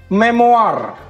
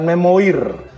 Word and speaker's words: memoar: oke the next one memoar bacanya memori ya bukan memoir karena berasal dari bahasa Perancis memo Hai jadi oh